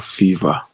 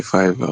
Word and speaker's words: Fiverr: This um this app is it is it pronounced as Fiverr or Fever please so that I don't fall my hands anywhere I go. It it is f my Okay. Fiverr.